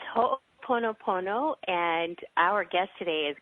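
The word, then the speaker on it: Ho'oponopono: uh for the next 60 minutes here it's ho ponop poono and our guest today is going to talk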